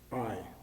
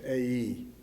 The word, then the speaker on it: Ai: Now look, actually, the name of the city isn't always pronounced I. It's A-E for most people.